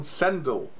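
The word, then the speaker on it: Sendell: them on several occasions no that's not how it's pronounced the he said cendel like a really weirdly it's called sendal sendo not sendel who wants a dell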